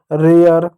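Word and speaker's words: rare: आपको होगी य कहाँ से आ गया, नियम ही बच्चों कि ए के बाद अगर आर ई हो, ये साइलेंट होगा और ए का उच्चारण ए के रूप में हो जाएगा।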